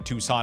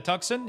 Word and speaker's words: Tucson: A tuxen. Uh, Tucson.